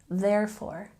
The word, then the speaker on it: therefore: therefore therefore once again don't forget we have a stress on the first syllable therefore very good again this